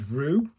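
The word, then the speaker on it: る: Either way this is rue pronounced pronounced like the rue in brew.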